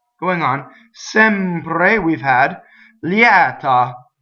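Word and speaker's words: lieta: Liɛta, open E after the semivowel. Liɛta.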